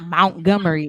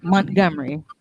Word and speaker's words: Montgomery: It's not Montgomery. It's Montgomery. You know Mount I'm this slow super ass proud. can't pronounce nothing. There's no U in that word, dear. It's MONT.